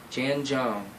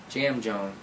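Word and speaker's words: 站桩: a tree it is known in chinese as zanzuang standing like a steak or standing like a tree it is pronounced jan zhang or in southern china china jam jon this is the system to which you are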